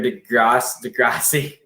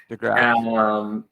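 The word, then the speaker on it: De Grasse: Number 8, Andre Degrassi. DeGrasse. Number 7, oh god, I have a hard time pronouncing his name because he's the tennis player there.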